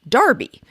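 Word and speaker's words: Enroughty: u g h t y but was actually pronounced darby greg found several confirmations of this but they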